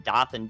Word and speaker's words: Dothan: good tornado warning to issue if you're in dothan georgia i wouldn't worry about this particular tornado